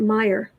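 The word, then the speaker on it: Meijer: stitches i love that we pronounced it meyer family grocery store chain from grand rapids oh are they he's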